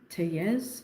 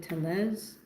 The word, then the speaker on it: Tellez: I'm saying it her last name wrong. Tellez instead of Tellez.